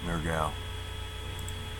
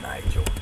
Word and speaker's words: Nergal: Okay, Nergal. Not Nigel.